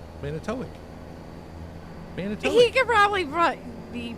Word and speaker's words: Manitowoc: Can you remember how I pronounce it, where Jason's from? Manitowoc.